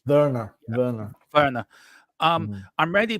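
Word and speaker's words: Werner: really pleased with verer is it Warner or ver V pronounced W as a v in German verer verer verer um I'm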